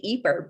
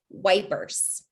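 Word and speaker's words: Ypres: of peace of course the british didn't know how to pronounce it when they first got to the eeper salient so they just pronounced it wipers you might be uh you might know of the broadway performance the wipers times that was performing in london wipers is anytime you hear that they mean eeper we all like to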